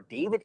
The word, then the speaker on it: D4VD: This is the case against the pop star David Anthony Burke, better known as David, spelled with a 4.